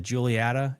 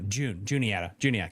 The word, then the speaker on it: Juniata: You have the Julietta. You can go up into New York if you want to. I said that right. Julietta? No, Juniata.